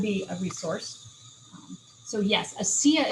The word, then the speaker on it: ASEA: So yes, ASEA is spelled ASEA. So ASEA. And then they usually say ASEA.